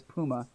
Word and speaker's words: Puma: with the puma or puma i used to pronounce it puma one of the kid but it's puma i mispronounced a lot of words when i